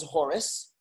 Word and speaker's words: Horus: Or actually, Horus is the Greek pronunciation because they add the us at the end. It's really Chor, which is, you know, Americans, we speak English, you say Hor, but it's really Chor.